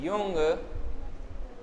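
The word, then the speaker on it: Jung: अगला है युंग oblique जुंग के अनुसार व्यक्तित्व वर्गीकरण। देखो युंग और जुंग ने क्या बताया था, युंग और जुंग एक ही है, पहले बात इनका अलग अलग प्रोनाउंसिएशन है, उच्चारण है, के अनुसार व्यक्तित्व का वर्गीकरण।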